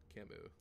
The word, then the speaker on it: Camus: It actually is pronounced Camus. It's French.